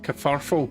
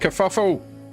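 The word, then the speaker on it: kerfuffle: Kafarful. That's That's another one, but it's way too many vowels for me. And also it's pronounced kafuffle.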